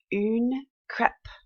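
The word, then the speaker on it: une crêpe: going to look like that a crepe we pronounce it oon crap boone crap this is something very popular to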